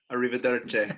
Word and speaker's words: arrivederci: Arrivederci.